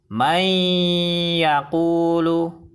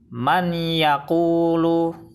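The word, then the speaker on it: مَن يَقُولُ: Bacaan yang benar adalah may yaqulu. Kesalahan baca yang pertama adalah may yaqulu, salah, karena bacanya harus disertai dengung. Kesalahan baca yang kedua, man yaqulu, salah, karena bacanya harus dimasukkan ke huruf idgham bi gunnah dan disertai dengung 2 harokat.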